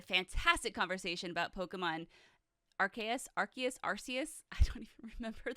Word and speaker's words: Arceus: that like affirms that that is the correct pronunciation so it's arceus arceus arceus okay friend take a shot every time i say archais because it's gonna happen you will get drunk